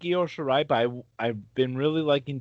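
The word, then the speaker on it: Io Shirai: we have uh nxt women's championship match uh io shira is that am i pronouncing that yo shirai okay thank you i appreciate that versus um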